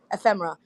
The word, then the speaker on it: ephemera: never say it right tell me again Matt ephemera we have a bunch of postcards too and